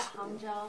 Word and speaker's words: Hangzhou: Is this the way to pronounce it? Yeah, Hangzhou.